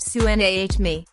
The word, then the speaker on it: tsunami: What is a tsunami? The Japanese word tsunami, pronounced soo-NAH-mee, means harbor wave.